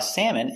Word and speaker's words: salmon: lunch pronunciation salmon a salmon is a fish and I like to eat salmon for lunch salmon S A sa M Sam Sam Sam salmon Salon salmon salmon salmon